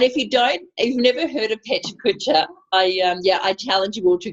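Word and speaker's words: Pecha Kucha: And just that is pronounced Petcha Kutcha. Petcha Kutcha.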